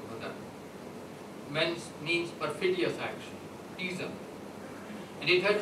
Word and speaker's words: Ghadar: Now the Arabic word Badr, G-A-H-A-D-R, there is no vowel at the end, but in Urdu and in ordinary Urdu it is pronounced Badr, means perfidious action, treason.